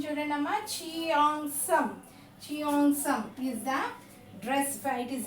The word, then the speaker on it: Cheongsam: Cheongsam. What it is? Pronunciation children amma. Cheongsam. Cheongsam is the dress.